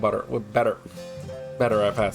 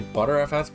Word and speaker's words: Btrfs: I'm going to try it with BetterFS. So people want to say ButterFS, but I'm like 100% sure that's not the correct pronunciation.